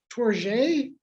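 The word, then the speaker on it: Tourgée: last name but it's torgae is that how he would say it yes trigger sort of a z sound there yeah for readers i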